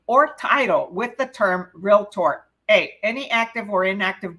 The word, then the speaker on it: realtor: which of the following May associate his or her name or title with the term realtor remember it's only two syllables real and Tor realtor we will be real